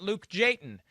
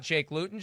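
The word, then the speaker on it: Jake Luton: all i know is every time i go to say his name i stop to make sure it's not luke jayton so show me what you got jake lewton just so i can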